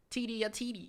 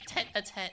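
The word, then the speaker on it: tête-à-tête: could have this little Titi a Titi this is pronounced t a tet this is insane what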